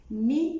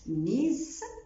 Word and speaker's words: mes: مي ما نطقتهاش ميز، نطقتها مي، الاس مستثنى في النطق في اخر الكلمه لانه حرف ساكن.